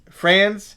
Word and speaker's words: Franz: I don't think it's France. Is it France? That's not France. How do you say it? Franz? Wagner. Sorry. France Wagner.